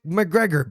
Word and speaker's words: McGregor: Y sí, es McGregor, así se pronuncia, Conor McGregor.